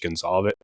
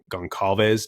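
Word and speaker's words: Goncalves: push uh someone like Gage Gonzalez Gonave down, however you pronounce Gonzalez. Yeah, you had it right the first time.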